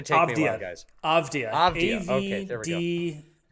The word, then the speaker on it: Avdija: But it's actually he also, just don't look at it, just hear it. Avdia. Yeah. Great. I can say just Avdia. don't read it. That's what's going to throw us off.